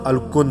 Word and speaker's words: الکند: نام بھی لکھا ہے، نام الکنز تھا، جس کا تلفظ الکند ہے۔ وہ مصری مسلمان تھا،